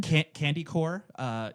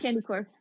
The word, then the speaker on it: Candy Corpse: Yeah, I well, want to hear the other pronunciation. Candy Core, Oh, okay. right? Yeah, No, yeah. it's Candy Corpse.